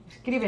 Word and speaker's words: Scrivener: Nosotros en el manual, como comprendemos que no todo el mundo sabe manejar Scrivener, ¿se pronuncia Scrivener? Scrivener, sí, ¿no?